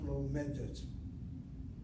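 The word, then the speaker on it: לומדת: Again, the accent is on the second syllable. Ani lomedet. The sego Okay. is unaccented, is open, it's not closed by dagesh chazak. And so a short vowel, open syllable, is not regular. It has to be part of a closed syllable. So you accent it.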